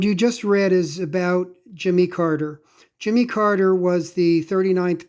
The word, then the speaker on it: Jimmy Carter: people pronounce his name jimmy carter uh he's from the south in the south it's probably pronounced more like jimmy kata his wife uh her